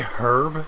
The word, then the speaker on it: herb: that's health such as herb you say herb you don't pronounce the h you should have known